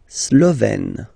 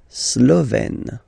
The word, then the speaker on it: Slovène: La Slovénie, so only one form here, Slovène, Slovène. Remember, E accent grave, you open it, Slovène. La Hongrie, Hongrois, Hongroise.